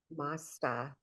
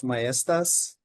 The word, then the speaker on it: Mestas: Moving on, our next uh speaker, we welcome Joseph Masta, state auditor of New Mexico for some special remarks.